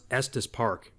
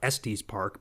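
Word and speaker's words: Estes Park: that's pretty cool because it actually knew how to pronounce EST Park you know I even hear people in real life typically who are from out of town they call it es Park but the AI actually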